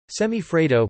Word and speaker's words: semifreddo: Semifreddo, pronounced semi-freddo, Italian, half-cold, is a class of semi-frozen desserts.